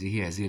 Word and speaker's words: هذه: وكل هذه انتبه، كلمة هذه الألف هي تنطق ولكن لا تكتب، هذه هكذا.